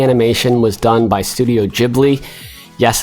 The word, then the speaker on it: Ghibli: The story and the animation was done by Studio Ghibli. Yes, it's pronounced Ghibli, not Ghibli, I know.